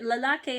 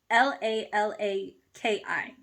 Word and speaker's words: lalaki: You pronounce it as I, not E.